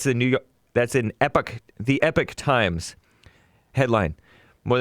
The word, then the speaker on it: Epoch: look it up it's it's pronounced epic not epoch unless you're british or stubborn or ignorant which i can be